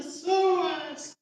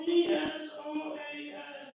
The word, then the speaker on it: psoas: It's spelled PSOAS. And there's two psoas muscles.